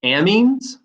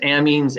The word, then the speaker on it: amine: organic chemistry are called amines i've heard it pronounced amines and amines so i guess it depends on who you're talking to and these are organic